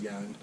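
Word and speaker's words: Janín: I believe it's pronounced Yanin. He's Spanish. It's spelled with a J.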